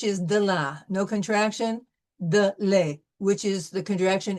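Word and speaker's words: des: De le, which is the contraction is de. D-E-S, de. Don't pronounce the S.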